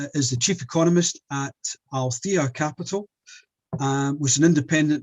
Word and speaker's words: Aletheia: It's Aletheia Capital, I'm afraid.